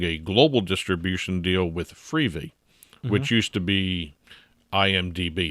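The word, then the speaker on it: Freevee: I pronouncing that right free V okay yeah yeah because it's TV but it's free it's a big yellow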